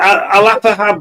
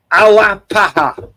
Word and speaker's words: Alapaha: Oh, Alapaha Blue Blood.